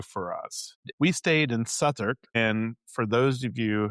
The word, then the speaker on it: Southwark: We stayed in Satuk and for those of you who have never been there, it's pronounced like s u t h a r k but it's spelled south work.